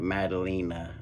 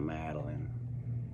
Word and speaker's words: Madalina: uh in the intro it's uh madalina not Madeline this is a bit